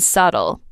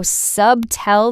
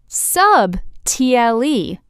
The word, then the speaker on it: subtle: s u b t l e Ouch. Subtle is pronounced s u t l The b is completely silent.